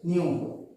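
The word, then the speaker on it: ν: f or more popularly we used to write as new we pronounce it as new frequency is a number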